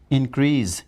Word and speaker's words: increase: There are some words which are again mispronounced, like precise should be precise, increase should be Increase. increase, cease should be cease. Cease.